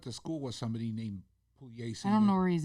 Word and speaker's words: Pugliese: They pronounce it Pugliese.